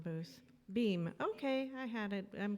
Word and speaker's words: Boehm: Boehm, okay, I had it, I'm close, okay.